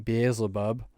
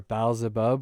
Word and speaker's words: Beelzebub: It mentions the famous name Beelzebub, or Baalzebub, or Beelzebub, or Beelzebul, or Beelzebul. It has about 800 different pronunciations, but it all means the same thing.